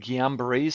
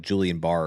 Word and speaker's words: Guillain-Barré: Like I always thought it was like Julian Barr or Gillian Barr. Is it the same thing? Just set, I just Correct, say it wrong. Guillain-Barré.